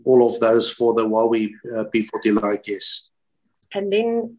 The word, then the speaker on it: Huawei: And I had Chinese people working with me at Vodafone, so they taught me the correct pronunciation. It's not Huawei and all kinds of things. It's Huawei.